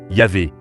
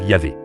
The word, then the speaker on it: Yahvé: Ainsi, plusieurs hypothèses de prononciation existent aujourd'hui. Yahvé et Jéhovah sont les plus connus. La recherche académique pend généralement vers Yahvé.